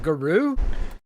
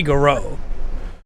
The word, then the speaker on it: Garou: But they announced Garo, City of the Warves. Okay, hold on. Is that Guru? Well, I mean, that's the way you'd probably look at it. But they say Garo.